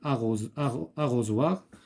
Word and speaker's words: arrosoir: Arrosoir se prononce Z.